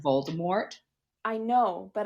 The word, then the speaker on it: Voldemort: Did you know that also technically his name is French, so it's not actually supposed to be pronounced Voldemort? I know, but I hate leaving off the T.